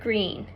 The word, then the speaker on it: Greene: pigeon asked politely I'm your new student my name is green that's green with a silent e at the end and I just moved